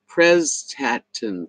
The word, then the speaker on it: Prestatyn: Okay, Patricia said it's pronounced Prestatyn.